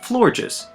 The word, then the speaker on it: Florges: The other aspect of this Pokemon is its natural beauty, so it's no surprise that Florges also draws the other half of its name from the word gorgeous.